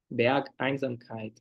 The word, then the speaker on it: Bergeinsamkeit: Ah, Berg, Einsamkeit. Aí na pronúncia tem que dar uma quebra, assim. Bergeinsamkeit, ok.